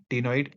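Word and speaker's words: ctenoid: cycloidal टनो इड scales नॉइड इस ये वाला सी जो है यह साइलेंट है तभी कह रहा हूं नॉइड स्किल्स एक्सटर्नल फर्टिलाइजेशन ओवी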